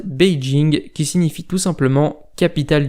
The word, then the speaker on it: Beijing: légendaire pékin en chine pékin et le nom francisé de la prononciation chinoise beijing qui signifie tout simplement